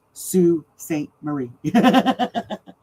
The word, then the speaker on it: Sault Ste. Marie: It's pronounced Sault Ste. Marie.